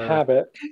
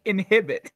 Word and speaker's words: inhabit: Inhabit. Inhabit. You said it correctly the first time, and then corrected yourself with the wrong pronunciation. You said a habit. Up. You said inhabit, and then you said inhibit.